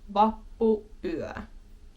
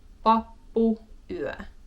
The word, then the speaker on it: vappuyö: Vappu, little pause, night. Vappuyö. Jouluyö. And Vappuyö.